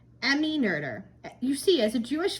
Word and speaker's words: Noether: Not her. I actually believe it's pronounced Noether.